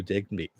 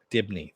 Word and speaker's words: Dibney: It becomes Sue Digby. Digby? I can never pronounce his last name.